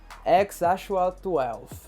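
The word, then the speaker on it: X Æ A-12: E que se pronuncia assim, o X se pronuncia como X, o AE, né, se pronuncia Ash, e o A12 se pronuncia normal. Então fica X Ashua 12.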